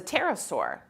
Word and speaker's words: pterosaur: So one of the first dinosaurs that had hollow bones and wings is a pterosaur. Did I say that right, you guys? Pterosaur, okay? with a P. With a silent P.